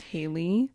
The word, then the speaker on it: HA1EY: actually pronounced Haley. Yeah. You just don't pronounce the one like a No.